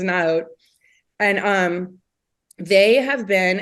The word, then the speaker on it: Naot: up loved them there a line called um naot or neote or naot depending on who Waits on you in the store but I believe their official pronunciation is not and um they have